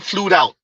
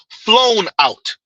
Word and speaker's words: flown out: Why did we start saying flued out? Because homegirl from Young Miami said flued out from City Girls. Now you could that wasn't a slip. No, she really didn't know that it's pronounced flown out.